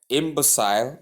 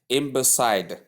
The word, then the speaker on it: imbecile: So right here imbecile or imbecile not imbecider. There is nothing the there is no the sound. There is no D in the spelling and there is no D the sound in the pronunciation.